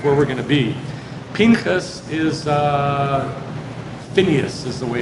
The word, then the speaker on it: Pinchas: Pinchas is Phineas is the way it's pronounced in English.